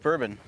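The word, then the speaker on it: Boerboon: up is uh Jeff bourbon spelled b-o-e-r-b-o-o-n but pronounced just like one of my favorite drinks bourbon from Cave Creek Arizona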